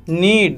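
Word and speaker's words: knead: गूंथने को क्या बोलेंगे नीड बोलेंगे यहां पे के हमारा साइलेंट होगा नेक्स्ट वर्ड इज रटन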